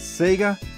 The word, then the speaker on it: Sega: We pronounce it as Sega.